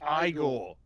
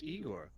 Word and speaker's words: Igor: And my name's I go. They said your name was Eigor. Well, they were wrong then, weren't they?